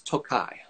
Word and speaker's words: Tokaj: this doku and not this noko is the pronunciation of the estate and then the region is tokai so tokai is the area but then speaking